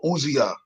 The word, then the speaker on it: Uzziah: How you pronounce that? Oh, Uzziah.